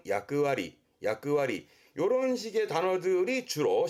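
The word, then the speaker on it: 役割: 발음은 야끄와리, 야끄와리.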